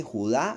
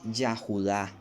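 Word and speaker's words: Yehuda: no no se dice Judá no se dice judío se dice yahuda de donde viene la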